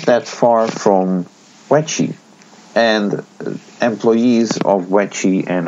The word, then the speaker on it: Weche: What's also interesting to note is that, as you may remember, there is actually a Taiwanese pinball company called Weche. That's spelled WECHE.